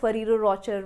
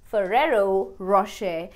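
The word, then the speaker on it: Ferrero Rocher: chocolate brand as Mummy, I want to eat ferero Ro-chur chocolate I hope you donot pronounce it that badly so the right pronunciation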